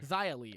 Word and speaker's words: Xia Li: Is that how her name's pronounced? Yeah. Shia Lee? Xia Li, okay.